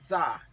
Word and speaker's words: Tzar: yes I have a designer by the name zah well it's spelled how's it spelled TZ a r but